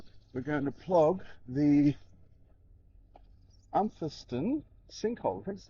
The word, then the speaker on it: Umpherston: Today we're going to plog the Umpherston sinkhole. That's how you pronounce it.